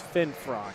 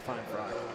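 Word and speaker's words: Finfrock: that we got and it is fin frock not fine frock oh so I was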